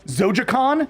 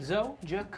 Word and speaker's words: Zojaqan: Once again, Zojaqan, Zojaqan, no U. Zojaqan.